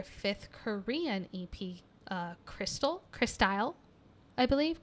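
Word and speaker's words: Crystyle: korean ep uh crystal chris style i believe chris style is how you pronounce it um and that kind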